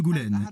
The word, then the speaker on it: Goulaine: nous vient de France votre titre se prononce marquis de Goulaine comment l'avez-vous acquis je